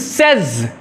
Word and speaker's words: says: करें तो notice सेज, ये the correct pronunciation is सेज। सेज आम तौर पे लोग पढ़ते हैं बट इट इज सेज।